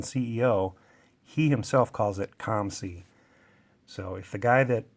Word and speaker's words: COMC: for the package I got a box from comc in the mail a couple days ago now and have been waiting to open it on camera and yes it is actually calm see I know some people pronounce it co MC